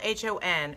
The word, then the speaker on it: hon: from this is fest a hun spelled H o n pronounced H 0i n hon hey hon I had to learn it they had to teach me it it's basically it's a Baltimore it's a Baltimore thing it's kind of like